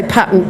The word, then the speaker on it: patent: Actually, I should say patent box because that's the right way to pronounce it.